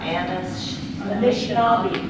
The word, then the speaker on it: Anishinaabe: Okay, just a question, how do you pronounce that? Anishinaabe.